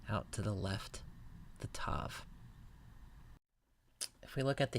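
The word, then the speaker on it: תו: Final letter of the Hebrew alphabet is the tav, pronounced like the English letter T. Tav. The distinctive characteristic of the tav is this little foot at the bottom which points out to the left. The tav.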